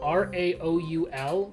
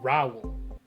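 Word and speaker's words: Raoul: got your name somehow some guy with the name r-a-o-u-l they turn it into a one-syllable name rao except it's like raul um oh god i have no clue i'm gonna guess 13.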